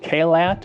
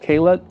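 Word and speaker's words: Caillat: Kat is how you say it. Kat.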